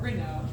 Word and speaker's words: Reneau: Reneau. Okay, I was like, I always pronounce it I Reneau.